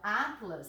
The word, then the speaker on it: atlas: ao dividir as sílabas a palavra atlas repara a sílaba forte é penúltimo se a penúltima ela